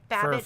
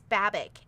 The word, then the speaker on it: Babick: Oh, Janine Babick. What? I didn't know it's Janine Babick. It's going to take me a while because I've I've said it Bab, but I was told it's Babick.